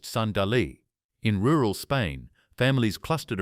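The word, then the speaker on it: صندلی: In medieval Afghanistan, people used a heated table called a sandali, pronounced sandali.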